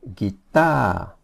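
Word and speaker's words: กีตาร์: You don't pronounce the R at the end. You just say guitar.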